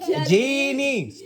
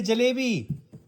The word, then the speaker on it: jalebi: Jeeni. Come on, say it properly. Say jalebi. Jabini.